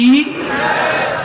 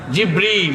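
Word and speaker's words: جبريل: সেই ফেরেশতার নাম কি জিব্রাইল জিব্রাইল না জিবরীল জিবরীল একটু সঠিক প্রোনাউন্সিয়েশনটা আপনারা শিখে যান ওই ফেরেশতার নাম হচ্ছে জিবরীল ফেরেশতার নামটা কি জিবরীল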